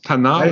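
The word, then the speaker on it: Tannat: Wie spricht man die richtig aus? Tanat? Ja, ohne Tanat, ja, genau.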